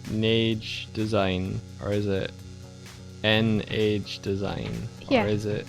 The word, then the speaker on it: Nage: So is it Nagi design, or is it Nage design, or is it N-Age design, Yeah. or is it Na-G design? Let us know how you'd prefer us pronounce it.